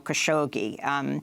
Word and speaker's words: Khashoggi: and video evidence that khashoggi in English Jamel khashoggi as how it's pronounced here in the US was killed inside the